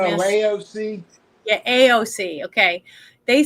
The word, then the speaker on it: AOC: Is it OAC? Is that how you say her name? The horse face girl, whatever her name is. AOC.